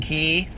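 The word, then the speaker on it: Quay: them in gold, and they're spelled Q-U-A-Y, but they're pronounced key.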